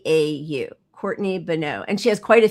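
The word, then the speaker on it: Courtney Boneau: Courtney Beno. B O N E AU. Courtney Beno.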